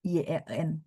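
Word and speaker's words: yan: gitu UN kung bukan Y E n enggak ada ee bahasa Mandarin enggak akan ada Y E n pininnya un Y U A N G O N G Kalaupun ada itu Y A N bacanya misalnya yen cing the yen.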